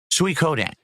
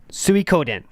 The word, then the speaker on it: Suikoden: How is the name of that game pronounced? Okay, so I've got it as question marks on the list. Suikoden, right? Suikoden.